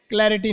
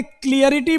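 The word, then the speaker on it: clarity: अब एक लड़के क्लियरिटी बोलते हैं, तो क्लियर में ITY लगा दिया मैंने, लेकिन स्पेलिंग फिर इसकी गलत है। जैसे एक्सप्लेन में जब एक्सप्लेनेशन बना तो आई हटा, वैसे ही यहां से ई हट जाएगा। क्या होता है? और इसको कैसे बोलोगे? क्लै बोलना, क्लै, क्लैरिटी, क्लैरिटी, क्लैरिटी होती है ये।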